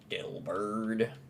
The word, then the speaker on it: Delibird: Delibird. Say it like Dilbert.